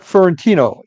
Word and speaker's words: Fiorentino: My guest Fentino. Am I pronouncing that correctly?